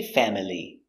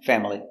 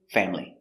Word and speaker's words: family: conia very good example family it looks like family but we don't say family sometimes family family but usually family family this is my family